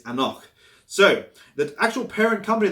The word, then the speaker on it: anCnoc: get them confused and even the pronunciation is a knock so the actual parent